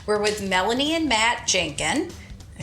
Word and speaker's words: Jankun: Hub of Apopka we're with Melanie and Matt Jenkin I say it right you did it good